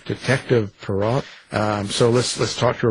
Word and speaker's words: Parrott: But I pronounce his name Parrott.